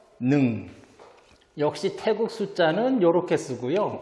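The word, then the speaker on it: หนึ่ง: 이렇게 씁니다 태국 숫자로 1은 이제 짧게 일성으로 발음해야 능 역시 태극 숫자는 요렇게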